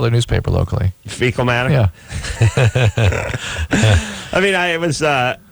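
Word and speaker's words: Feakle: and it's a little town called fecal I swear to God it's on County Clare it's spelled differently but it smells the same it's f-e-a-k-l-e I think wow and are they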